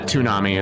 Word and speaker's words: Toonami: Yeah, Toonami is how it's pronounced.